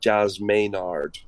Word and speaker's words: Jazz Maynard: it's a book called jazz maynard and so jazz as in jazz and maynard as in is there a suite called maynard's gums yeah yeah that's my